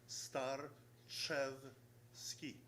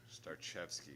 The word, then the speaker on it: Starchevsky: It's real easy, just the way you spell it. It's Starchevsky. Starchevsky. Starchevsky.